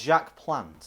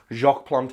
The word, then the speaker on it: Jacques Plante: was jack plant yeah I don't think that is the way you pronounce his name because obsolete shock and then plant with NES I think I think it's Jacques Plante a which sounds way nicer because like in English